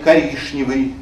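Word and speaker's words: коричневый: Я вас не призываю говорить «коришневый» или «грешневая каша» или «пряничный домик». Хотя такие произношения в старомосковском произношении тоже одобрены, они там есть.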